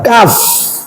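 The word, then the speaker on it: كاف: Dibaca utuh, ujungnya ada huruf fa. Kaf. Kaf dibaca utuh. Dipanjangkan, yang panjang bunyi huruf apa? Latinnya A. A-nya sampai 6. Kaf.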